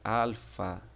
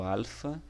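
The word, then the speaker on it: ἄλφα: e a pronúncia né igual ele tem a mesma pronúncia do ar em nosso português como por exemplo na palavra amor tá então o alfa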